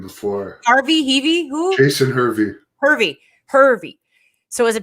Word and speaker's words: Hervey: how do you say his partner's name heavy harvey i met him before rv heavy who jason hervey hervey hervey so is a bischoff hervey production